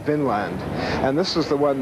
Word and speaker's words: Vinland: Now, this has been a controversy in scholarship ever since because people want to, in modern days, see it as V-I-N with an accent on the I, Vinland, meaning land of wine or land of grapevines.